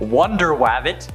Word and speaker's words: Wonder Wabbit: The Crash was first introduced in Captain Carrot and His Amazing Zoo Crew number 14, which also features superheroes like Wonder Wabbit, that's actually how it's said, Aquaduck, Batmouse, and